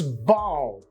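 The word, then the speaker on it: bough: o sound next one b-o-u-g-h entirely different it's bow it's bow Not Bow not Bob not Bob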